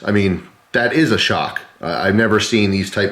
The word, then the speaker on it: XOC: included so it's a model 5400 against it's pronounced shock with spelled XOC I'm glad they put that